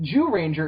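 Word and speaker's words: Zyuranger: just like, no, wait, it's not spelt that way. It's spelled Z-Y-U Ranger. It's Japan, man. That's exactly what I said to him, by the way. I've been trying to adjust my way of pronouncing it into something less awkward. Judanger. But they say it Jew Ranger in the fucking show. They just say Jew Ranger. They're the Jew Rangers. Go Jew Ranger.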